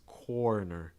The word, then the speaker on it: corner: r sounds like turn same thing with corner corner you want to make sure it's not kerner it's corner or or sometimes that